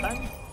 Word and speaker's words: Montagne: And yes, this is how you pronounce it. So everybody watching out there, that's French. Soir. And second of all, yes, it is Montagne.